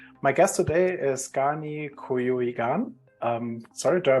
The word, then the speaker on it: Cuyugan: Um, my guest today is Gani Kuyuigan. Sorry, do I pronounce this correctly? Kuyugan? Kuyugan. It's Kuyugan.